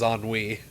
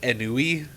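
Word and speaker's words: ennui: they could have is on Wei now at the time I was a child so I pronounced it like anui cuz I was you know I was baby you don't want your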